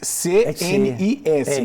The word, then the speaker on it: CNIS: Se escreve S-N-I-S, C-N-I-S, mas se fala CNIS.